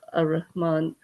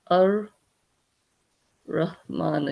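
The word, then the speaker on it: الرحمن: So although we write uh you know Alman in Arabic as Alman okay we don't say alman we actually say al raman okay okay so that this means that this ra is actually a sun letter okay because it follows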